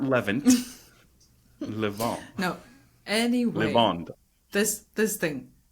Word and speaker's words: Levant: No, levant. No, Is it's it pronounced mirrored on levant.